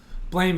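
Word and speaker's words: Blame!: Blame, it's a manga by Tsutomu Nihei. Highly recommend checking out the word blame with an exclamation mark at the end. It's pronounced blam.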